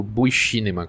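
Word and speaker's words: Vシネマ: No caso aqui no Japão, eu queria comentar um pouco sobre o V-Cinema ou Buicinema, que seria a pronúncia em japonês, segundo o livro que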